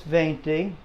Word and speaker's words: veinte: let's go to this this is venti that's how you say 20 thank you this is